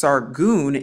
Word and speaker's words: Sargon: to different sources now we actually see the word sargon in scripture pronounced sargun and yashiya'u isaiah 20